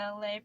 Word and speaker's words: Elay: You guys, my name is Elay, pronounced like LA, like the city.